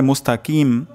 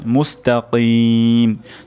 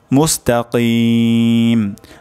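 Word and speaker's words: مستقيم: লাস্টে শেষে কফ হবে। অনেকের ক্ষেত্রে এমন হয়ে যেতে পারে মুস্তাকিম, কিম হবে না, মুস্তাকিম। যদি এমন হয় মুস্তাকিম তাহলে কিন্তু অশুদ্ধ হবে। উচ্চারণটি এখানে কফ উচ্চারণ করতে হবে, মুস্তাকিম।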